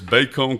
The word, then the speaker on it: Bacone: You graduated from, I couldn't figure out how to pronounce it. Yep, it's Bacone College. Bacone College.